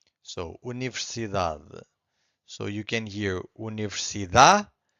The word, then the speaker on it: universidade: And the rule number 1 says that usually the strongest syllable, it's the second to last. Every time this happens, the final syllable, the last one, it's very weak. It's not silent, but it's very weak. It's hard to hear.